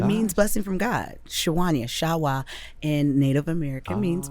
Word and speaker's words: Sawanya: My grandmother actually calls me Sawanya because that's how it's spelled.